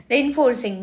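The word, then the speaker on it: reinforcing: रेनफोर्सिंग मतलब यहां पे रेन नहीं है। बिकॉज़ इसका spelling R ई आई एन है। जो हम रेन पढ़ते हैं वो आर ए आई एन होता है।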